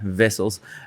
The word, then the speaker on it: Wessels: We pronounce the W as a V, Wessels.